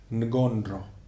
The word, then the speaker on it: Ngondro: In Tibetan Buddhism, they have a term for these preliminary exercises, preliminary practices, and the term is Ngondro. It's written N-G-O-N-D-R-O, Ngondro, and it's pronounced Ngondro.